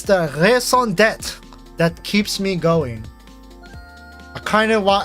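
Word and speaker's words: raison d'être: You know how long it took for me to master the French R? If you pronounce that wrong one more time. I'm trying, okay? Me and Rabbit are gonna explode. I'm trying my best. I'm trying my best. What do you want from me? Do you want me to pronounce it wrong on purpose? Do you want me to say racing d'etre?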